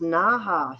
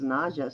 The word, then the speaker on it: Naja: Naha. See, everybody always says Naja, so that's how I thought it was pronounced. So I've been saying it wrong this whole time. Thanks, G. Silent J, got it.